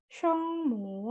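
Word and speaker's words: 声母: ada kalau huruf konsonan atau shengmu, ini ya bacanya shengmu, yaitu artinya huruf konsonan.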